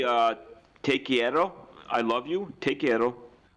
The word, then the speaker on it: quiero: could say uh take quiero i love you take care take care yeah take care yeah but you gotta roll your r see now you're forgetting because chierro you need to say